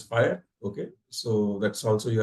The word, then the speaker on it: FHIR: it's a no-brainer and fhir is pronounced as fire okay so that's also